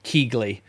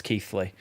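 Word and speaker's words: Keighley: in English or whatever is uh keithly is ke keegle but it's keithly but you wouldn't know that unless you actually from there either or or from around that area unless you were told because you would look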